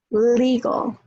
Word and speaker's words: legal: Legal, legality, legal, legality. So legal, the A is weak, but in legality, it's strong. So there's a whole bunch